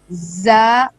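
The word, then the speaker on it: ظ: जा, za pronounced as za, tip of tongue comes between the front top and bottom teeth.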